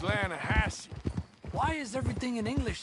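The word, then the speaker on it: Lannahechee: the other day I rode down to the Lana Hetchy River I caught some beautiful steelhead trout you mean Atlanta no no no the Lana hatch it runs right near here yeah but it's pronounced Lana Hass why is everything in English said differently than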